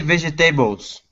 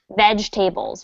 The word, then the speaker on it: vegetables: vegetables it's just vegetables do not pronounce the second e in the word imagine instead of being spelled like that it's spelled like this okay vegetables vegetables okay so can